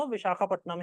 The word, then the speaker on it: विशाखापट्टनम: जग लिखा हुआ मिलेगा देखो गोरे बोलते थे क्योंकि विशाखा पत्तम बोल नहीं पाते थे मगर हम तो गोरे नहीं है वी are blacks we are capable of pronouns it perfectly Vishakha Patna शहर का नाम विशाखापट्टनम ही है अभी वो वाइज हैग